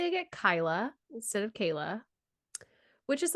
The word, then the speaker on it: Kaila: Let me help you. Right. It is just Kayla.